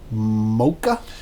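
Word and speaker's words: Mokka: a um an opal mocha now you've pronounced it mocha but it's spelled m-o-k-k-a I think it might be Maca okay so you open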